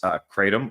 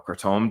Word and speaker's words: kratom: The gas pedal would be what's known as kratom or kratom, depending on how you want to pronounce it.